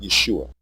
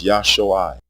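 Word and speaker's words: ישועה: is the noun salvation the original and correct pronunciation of this word is not yeshua it is yahshua with pure vowel sounds the pronunciation yeshua has two degraded vowels a short e and a long u the e is a contraction of the a vowel and the long u is a contraction of the long o vowel and we are deleting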